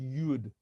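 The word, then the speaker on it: יוד: how do you spell it that's how it's pronounced yud the letter UD itself can't be pronounced has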